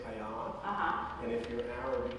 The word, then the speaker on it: Ayad: My name is Arab. My parents are Pakistani, so they mispronounced it from the beginning. I married a French woman, so she pronounced it completely differently. And my kindergarten teacher decided that AYAD was Ayad. So in Milwaukee, I grew up doing Ayad. So I oddly feel most comfortable with Ayad.